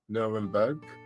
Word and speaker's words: Nerenberg: But his name is Albert Nurenberg. I've tried to pronounce that the best way I can.